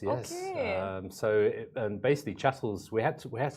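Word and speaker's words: Chattels and More: Chattles and more, right? Because I say there are so many variations of how people say it. So the right way to say chattles and more is chattles.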